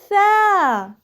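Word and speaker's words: ث: The voice of Tha is very soft. It has an airflow. Take out the tip of your tongue and then say it with me.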